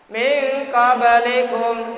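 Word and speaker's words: مِنْ قَبْلِكُمْ: Min qablikum, nun mati bersemu dengan qaf, dibaca ikhfa.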